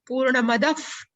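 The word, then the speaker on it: पूर्णमदः: Purnamadaf. But we have to pronounce it double F.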